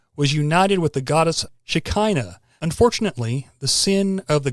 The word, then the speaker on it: Shekinah: Some people say Shekinah. That's probably the correct pronunciation, but I've heard it said both ways.